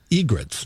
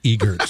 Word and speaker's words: egrets: they're actually egrets, not egerts.